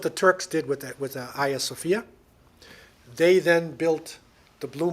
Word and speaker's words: Hagia Sophia: And the Hagia Sophia, the beautiful, some people pronounce it Hagia Sophia, but it's Hagia Sophia.